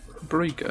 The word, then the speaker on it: Brücke: You gotta pronounce that umlaut. Brücke.